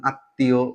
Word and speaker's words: আত্মীয়: বা বর্ণের সাথে থাকবে ওই লেটার বা বর্ণের ডাবল উচ্চারণ করতে হবে দত্ত উচ্চারণ করতে হবে বা ডাবল প্রোনাউন্স করতে হবে যেমন আত্মীয় বিশ্বয় এটাকে বিস্ময় বলা